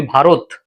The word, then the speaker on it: ভারত: তার মানে আকারের পরের অসময় ওকার উচ্চারণ হয়। এজন্য আমরা বলি ভারত।